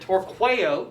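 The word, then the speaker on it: torqueo: the ruler who hurls whenever you see a long e you've got to ask the question is this a second conjugation it is it a third conjugation listen to how i said it torquayo torque second conjugation with an e is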